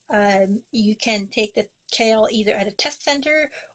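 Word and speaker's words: CAEL: of course so the kale stand is pronounced like the vegetable uh it's for me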